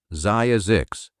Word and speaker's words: Zzyzx: And there's a second engineering choice hiding in it, which is that Zyzzyx is pronounceable. Zye-a-zix.